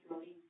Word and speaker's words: Florín: Su nombre es Adrián Florín, no Florian. Florín. Sí, es Florín.